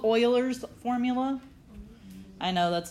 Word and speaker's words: Euler: this is and I understand it's a weird pronunciation of it but it is called Euler's formula I know that's not what it looks